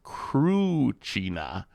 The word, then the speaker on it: Cruina: Ah, the right way is Cruina.